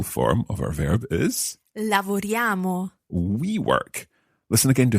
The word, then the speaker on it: lavoriamo: Lavoriamo. Now, you'll be used to seeing this written down, I-A-M-O at the end, but notice how it almost sounds like a Y-A-M-O.